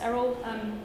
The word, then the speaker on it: Eriol: I'm Eriol, pronounced Eriol, even though there's an I in it.